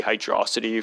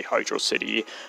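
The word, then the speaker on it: Hydrocity: entire stupid pronunciation debate I used to just naturally say hydrosity from how it worked I can't blame other people for doing that but now I just say Hydro City uh knowing that this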